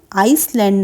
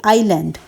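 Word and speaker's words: island: family in द आइलैंड अब देखिए यहां पे आई एस लिखा है लेकिन यहां पर एस जो है वो साइलेंट है आई एस एल ए एन डी इसे किंतु पढ़ेंगे हम आइसलैंड ना पढ़कर इसे पढ़ेंगे आईलैंड एस यहां पर साउंड में नहीं आएगा क्योंकि एस यहां पर साइलेंट है आइलैंड टाउन ऑफ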